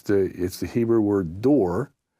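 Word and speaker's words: דּוּר: It's the Hebrew word dor, D-O-O-R is how we would pronounce it in English.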